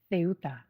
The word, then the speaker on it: Ceuta: and now they're wandering around the town of Ceuta.